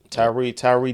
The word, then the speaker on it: Tyre: Tyre Nichols.